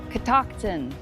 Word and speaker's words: Catoctin: So we asked the park ranger how to say it, and Amber is going to pronounce it for you. Catoctin.